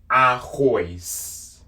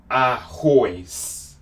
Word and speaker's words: arroz: Rice in Portuguese, arroz. Arroz. This is how you spell it.